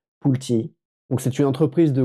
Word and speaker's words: Pulte: Aujourd'hui, on va parler de la société Pult Group. Donc, les anglais prononcent ça différemment. C'est Pulti.